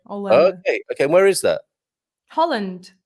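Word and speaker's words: Holanda: From Hollanda has an H still. We don't read it, but it's there. Hollanda.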